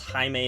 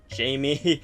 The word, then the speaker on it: Jaime: Jaime Reyes it's yes it's pronounced Jaime instead of Jamie um in espanol who